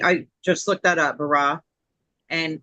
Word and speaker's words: bara: Okay, so Terry, I just looked that up, bara, and it's spelled B-A-R-A.